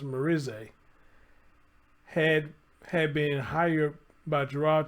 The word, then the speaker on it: Merisier: Merisier, I think I said it right because somebody came in the comment section and said she Haitian, so it's pronounced Merisier, had been hired by Gerard to help him around the house.